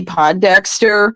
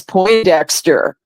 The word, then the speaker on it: Pondexter: you were there with me remember when campy Pondexter was um was on the New York Liberty and Bill lambir was the coach well I had mispronounced the name to as po Dexter and and Bill lambir looked at me and